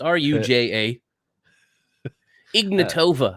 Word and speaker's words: Ruja Ignatova: It's Ruja Ignatova.